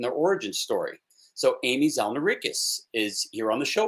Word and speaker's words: Zalneraitis: Amy Zalneraitis.